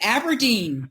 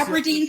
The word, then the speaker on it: Aburdene: Let's just pronounce it Aberdeen. Okay, like Patricia. Aberdeen, Scotland.